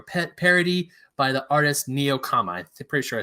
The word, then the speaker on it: Nekoama: Pokemon starter trio pet parody by the artist Nekoama. I'm pretty sure I said that right. Oh, no, I was wrong. Nekoama. It's spelled Nekoama.